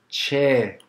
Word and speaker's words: che: And this is how it's pronounced, CHE. And it has the same sound as the English word, children. CH, CH, children.